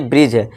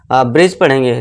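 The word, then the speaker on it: bridge: जी अगर इन दोनों से पहले डी हो तो डी साइलेंट होगा। अब एग्जांपल से समझिए। अब यहाँ देखिए जैसे कि ये ब्रिज है।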